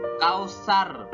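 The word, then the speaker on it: كوثر: antara membaca sa'dan shot Kautsar bukan Kautsar ya Kausar pakai Sak bukan pakai sold ke dua uruf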